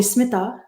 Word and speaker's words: Smita: is pronounced earlier yeah and you know smitha so smita actually the indians call me smitha i actually with my english accent says mita i prefer it that way and and and in